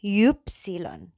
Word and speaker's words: Ypsilon: Kemudian ada huruf Y. Nah, ini bacanya Ypsilon. Jadi kalau Y di depan itu bacanya Y gitu ya. Ypsilon. Ypsilon. Nah, Ypsilon ini kalau misalnya orang Jerman bilang, itu huruf apa sih? Oh, itu Ypsilon. Jangan bilang Y, dia nggak bakal ngerti.